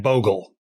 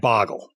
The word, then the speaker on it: Bogle: But the first thing we got to get to here is that the man's name is Jack Bogle, is not Jack Bogle. And so his followers are the Bogleheads, not the Boggleheads.